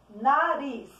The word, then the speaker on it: nariz: Nariz. Quando a tia pronuncia a palavra nariz, o ris é a sílaba tônica da palavra.